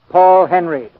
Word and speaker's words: Paul Henreid: He pronounces his name Paul Henreid.